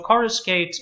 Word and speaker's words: coruscate: So coruscate is the correct pronunciation.